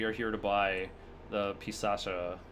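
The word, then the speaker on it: Pisaca: here to buy the pisacha pisaka of the labyrinth it pretty sure it's with a soft C because I've seen the phonetics in Japanese it is like pisacha it's I think it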